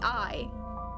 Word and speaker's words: AI: those no it's a i or not a i or yeah it's written a i but it's pronounced i so if we go